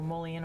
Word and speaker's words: mullein: maybe a little mullein oil in it. Exactly. Mullein, is that how you say it? Yep. Yeah, it's mullein And, oil.